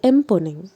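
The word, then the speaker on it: Mponeng: পৃথিবীর গভীরতম সোনার খনির নাম হচ্ছে এমপনিং। যদি বানানটি হয় এরকমভাবে লিখবে এম পি ও এমই এনজি অর্থাৎ এমপনিং। উচ্চারণটি হবে এমপনিং।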